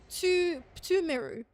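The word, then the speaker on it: Pthumeru: Ignore the H. Tumeru dungeon.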